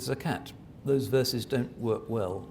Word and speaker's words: zakat: liable to pay zakat Salat rhymes with zakat those verses don't work